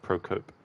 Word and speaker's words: Procope: Ah, so you pronounce it Procope.